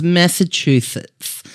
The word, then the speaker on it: Massachusetts: adding a T in after the S. Right. So it's Massachusetts. Massachusetts. Is it one of those Not ones where not shoot. Massachusetts.